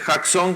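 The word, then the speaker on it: chazon: enseñé la semana pasada no es chason ustedes están leyendo tal cual es Jackson ya Jackson es con j la pronunciación como se escribe es con ch pero es jaxon que tiene que ver con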